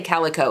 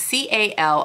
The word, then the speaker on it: Calicot: I'm going to say Calico. It is C-A-L-I-C-O-T. It's a Canadian company, and typically when you have a T at the end of a word, especially with French, it is not pronounced.